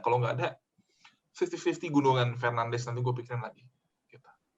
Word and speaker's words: Fernandes: Iya, jadi Bruno Fernandes tuh harusnya dibacanya susah lah, kayak Bruno Fernandes kayak gitulah. Tapi anyway, kita di sini ya kita pakai pronunciation standar aja ya, Fernandes, Bruno.